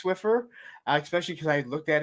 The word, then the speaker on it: Swiffer: Yes, Fatrid, I did say Swifter. I always say Swifter. I do too. say it wrong, okay? It is and I know Swiffer. it's Swiffer, especially because I looked at it a lot.